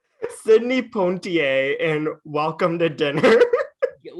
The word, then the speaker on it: Poitier: Poitier. Like, just, there's no N.